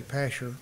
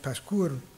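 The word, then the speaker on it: Pashhur: Now, it's, in East Texas, we may say Pasher, but it's pronounced Pashkur.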